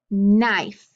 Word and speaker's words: knife: that first position okay so if i say knife knee knock now try to echoing back with